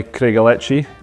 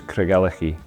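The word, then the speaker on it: Craigellachie: and not it's Al most people try calichi but as Kelly says the pronunciation is calak the name means Rocky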